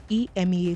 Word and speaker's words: EMEA: when it comes to Ema talks as we say the the a is silent kin Uno believed he